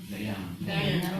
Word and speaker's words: Dhyana: This age-old tradition yoga practice called, I'm sorry if I pronounce it wrong, Dhyana. Is that right? Okay. Yeah. What's the way? Dhyana, okay.